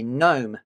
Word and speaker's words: gnome: happens to be a gnome. She's nagging him for carrying fewer bags than her. The lead author is Nag a hero. Mrs. Gnome with her silent G contains the letters N